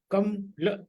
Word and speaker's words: कमल: कमल जो सही उच्चारण है वो 1 2 होगा, ठीक है ना।